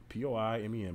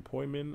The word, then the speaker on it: poimen: But then if you come down to the exhaustive concordance, you see it's probably from P-O-I-M-E-N, poimen, I believe. I'm going to go back and pronounce it.